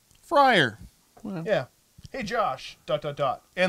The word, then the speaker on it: Freyr: Freyr. Friar.